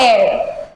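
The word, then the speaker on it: heir: अब मुझे एक बात बताओ, ये एच है, एच हमें पता है क्या है, कॉन्सोनेंट है, ठीक है। बट जब मैं एयर प्रोनाउंस कर रही हूं तो मेरा साउंड कौन सा आ रहा है, ए।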